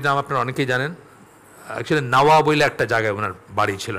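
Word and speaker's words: النووي: আপনারা অনেকেই জানেন একচুি নাওয়া বলে একটা জায়গায় উনার বাড়ি ছিল নাওয়া সিরিয়ায় নাওয়া থেকে নাওয়াবি সেখান থেকে বাংলায় তো আর এই উচ্চারণটা হয় না নববী বলি আমরা আসলে নববীর সাথে নবীর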